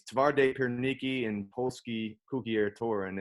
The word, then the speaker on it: Twarde Pierniki: tauren um so that's uh there's two names tavarde piernicki and polsky cookie air touring and took me